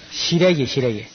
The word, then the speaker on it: 시래기: 경상도 사람들은 막, 너무 발음을 세게 해가지고 쓰레기가 되어버렸나. 시래기.